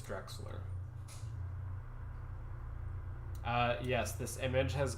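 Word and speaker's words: Drechsler: see that nebula and for anyone else as confused about pronouncing Marcel's last name as me now you know it's Drexler uh yes this image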